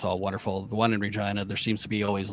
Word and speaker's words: Regina: And and like so our two major cities, which is Regina, which I know rhymes with vagina, Regina.